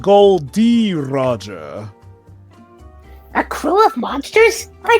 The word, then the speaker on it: Gold D. Roger: And his name was Gold Roger. Wait. No, it's pronounced Gold D. Roger.